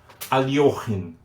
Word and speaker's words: Alekhine: I say Alekhine. I know that in Russian it's pronounced different. Yes, there is up to now there is a dispute if it is Alekhine because the IE, the EE is IE. Alekhine or Alyokhin.